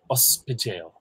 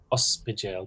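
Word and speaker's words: ospidéal: As to Renata's example, there's one word I can think of, ospidale. Ospidale. That's spelled O-S-P-I at the start.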